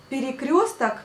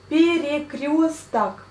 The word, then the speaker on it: перекресток: Перекресток, перекрещивать. De mot перекрещивать, donc крестить, de mot крест. Крест, c'est la croix. Перекресток. Перекресток. On dit le A quand on le prononce, mais on écrit bien le O.